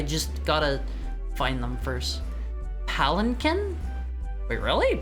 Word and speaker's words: palanquin: Palanquin? Wait, really? Palanquin? You said it right. Why on earth would you not pronounce the N?